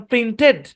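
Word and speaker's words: printed: তারপর অনেক কমন একটা উদাহরণ, প্রিন্টেড, কিন্তু এটা প্রিন্টেড না, অরিজিনাল হবে প্রিন্টিড।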